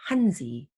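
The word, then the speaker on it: 汉字: would read that as hanzi if i were japanese it would be pronounced as kanji because i'm korean i read that as hancha if i were vietnamese i would go i would say hantu so the same visual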